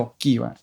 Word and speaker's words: Jockie: - Jockie itu sebenarnya ejaan lama. Kalau di rumah dipanggilnya itu Yoki.